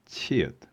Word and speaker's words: 치읒: CH in inches is the same as 치읒.